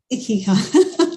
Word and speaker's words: Ikigai: Ikigai.